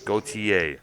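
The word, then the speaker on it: Gotye: exactly drinking water okay go ta go ta is that g-o-t-y-e is that how it's pronounced yes go ta sounds like yeah it sounds so much like goatee yeah all right um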